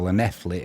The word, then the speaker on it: Llanelli: Marine 1, Buxton 0, and Carnarvon 1, Llanelli, or Llanelli as it'll be pronounced, 0.